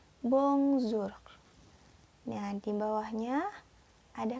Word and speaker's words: bonsoir: your ya itu dibacanya bongsor nya di bawahnya ada kata bongso ah tulisannya bonsoir tapi dibacanya Wongso Hai disampingnya ada wata